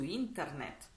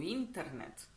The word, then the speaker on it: internet: мы с вами su internet su internet внимание на ударение интернет мы также можем его